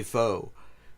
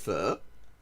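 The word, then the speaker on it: phở: probably would also say fo. Yes it is. So like, yeah, it is actually more correctly pronounced fur, but f but I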